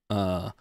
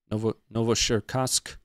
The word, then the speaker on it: Novocherkassk: I did look up how to pronounce it. Novocherkassk. Novocherkassk.